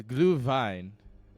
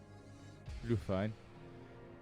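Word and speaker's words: Glühwein: great day no it's glue Vine is how I was told to pronounce it glue fine that's how I was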